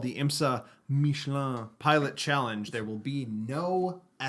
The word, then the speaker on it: Michelin: You're not saying it right. Michelin. Michelin.